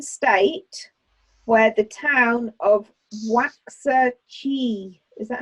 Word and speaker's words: Waxahachie: is an American state where the town of Waxahachie, is that how you say it? Waxahachie? Waxahachie? It's a very long word that begins with W and it's got a H in the middle. Waxahachie.